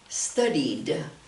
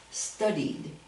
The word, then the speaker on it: studied: we change it, but we say studied, studied, with the D sound at the end, okay?